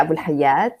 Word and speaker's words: Abu Alhayat: Hi how are you my name is Abul haad I'm a I'm so glad I didn't try to pronounce that welcome thank you actually in Arabic